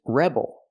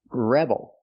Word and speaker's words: rebel: The first word is rebel. You put the stress on the first syllable, rebel. And the second word is rebel. You put the stress on the second syllable, rebel.